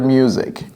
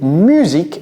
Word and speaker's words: music: parce que c'est u mais en anglais écoutez très bien comment je vais prononcer ça mi music ok music j'ai pas dit musique j'entends très souvent cela ce n'est pas correct en anglais vous dites musique un américain va dire